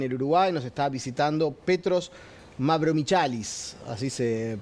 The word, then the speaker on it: Petros Mavromichalis: Nos está visitando Petros Mavromichalis, así se pronuncia, griego de nacimiento, pero habla muy bien